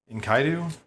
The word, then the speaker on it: Enkidu: Enkaidu? I don't actually know how to say it. I was told Enkidu was correct.